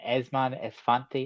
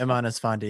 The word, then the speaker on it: Eman Esfandi: Esmon Esfanti, am I saying that right? Yeah, Eman Esfandi, yeah.